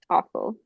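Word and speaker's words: offal: and what is this awful is how you pronounce it aul does anyone awful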